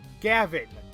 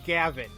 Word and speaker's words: Gavin: kept saying Gavin and the only reason why I kept saying gav is because I know somebody who pronounces it like gav so I'm like that's how I went with it but no prosecutor Gavin prosec Gavin what are